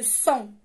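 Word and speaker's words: sang: الدم لو سون. الدم لو سون سهله حتى كيفاش كتكتب اس ا ان جي، فيها غير الجي اللي ما كتنطقش.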